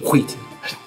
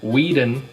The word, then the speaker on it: Whedon: I'm gonna keep Wheaton. Well, you're wrong. Wheaton. That's Josh a D, not a T. Wheaton. It's a Whedon.